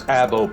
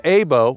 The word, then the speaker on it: Abo: It was the work of the infamous Abo Pass Gang. The Abo, or Abo, depending on your pronunciation, Pass is actually located out in New Mexico.